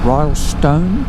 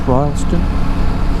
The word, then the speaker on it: Rylstone: two bumps there you go welcome to royalston Royal Stone pronounce Royston kajegong River John Hawkins Bridge Scenic little Park